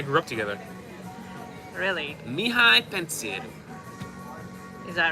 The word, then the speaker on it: Pantiru: Pantiru. Look at the accent on the T. Pantiru. Please, thank you.